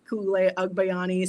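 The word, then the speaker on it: Ku'ulei Agbayani: Koulayani. So, just how it's spelled on the screen there.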